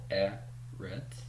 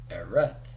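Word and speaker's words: אֶרֶץ: And sure enough, here's my accent mark, and that tells me to stress the first syllable. So it's not eretz, but rather eretz.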